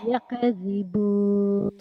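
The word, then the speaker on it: يكذبون: Yakadzibun. Salah. Yakdzibun.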